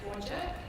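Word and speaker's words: Whadjuk: The word beginning with W there is pronounced Wajak, and the N word is pronounced Noongar.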